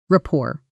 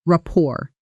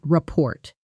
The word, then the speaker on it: rapport: Rapport. Notice the pronunciation carefully. The final T is silent. So, it sounds like rapport, not report. Try it slowly. Rapport.